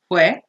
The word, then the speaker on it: fue: People tend to confuse these two, so careful how they're pronounced. Fui, fue.